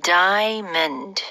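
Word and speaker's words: diamond: 그죠 자 다음은요 다이아몬드네 이거는 발음 조심하셔야 돼요 2음절로 다이먼 오아 a 발음을 안 해요 그냥 다이먼 지금 들으니까 뒤에 강세가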